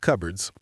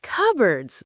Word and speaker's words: cupboard: Anna, my kitchen has a lot of cupboards. Cupboards? That's a strange word. If you look at how it's spelled, it looks like cupboard.